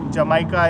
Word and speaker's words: jamaica: So J is spelled with H. So Jamaica is Jamaica.